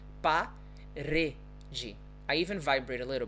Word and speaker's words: parede: Parede. Parede. Right, so as you see, I don't actually vibrate my tongue a lot, but that's where the sound comes from. It's parede.